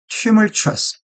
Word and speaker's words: tumultuous: 발음을 잘 봐야 됩니다. 이거는 tumultuous.